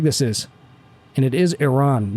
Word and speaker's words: Iran: you haven't taken a real close look at Iran before, that is a big country. So here's Iraq. Look how big this is. And it is Iran, not Iran.